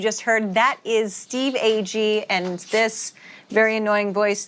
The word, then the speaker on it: Agee: official podcast with James Gun. And I'm James Gun, and I'm joined every episode by my co-host, Jennifer Holland and Steve Ag, who some people say Steve G. Wrong pronunciation.